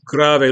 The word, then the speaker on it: grave: It's spelled Grave, which it looks like grave. And if you want to think of it as grave, you can, but the word is pronounced grave.